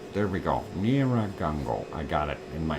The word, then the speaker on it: Nyiragongo: Doctor, the Congo quake is 200 meters, 200 kilometers southwest of Niagara, Congo. Boy, why can't I pronounce it today? Nyiragongo. There we go. Nyiragongo.